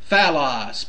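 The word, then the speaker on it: φαῦλος: Then finally, in the Greek, we have phallos, P-H-A-L-L-O-S. Listen carefully how to pronounce it so you'll know how to pronounce it.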